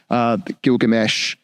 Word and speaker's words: Gilgamesh: And when I hear the story about Gilgamesh, that's how you pronounce it, reading the story there, well, not